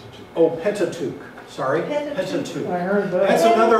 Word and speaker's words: Pentateuch: How do you pronounce this word? Pentateuch. Pentateuch. Sorry, Pentateuch.